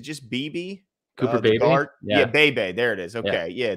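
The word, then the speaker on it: Beebe: Is that how you pronounce his name? Is it just BB? Cooper Bebe? Yeah, Bebe.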